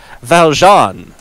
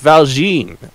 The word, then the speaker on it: Valjean: Yes, it is pronounced Valjean, not Valjean, because Les Miserables, people.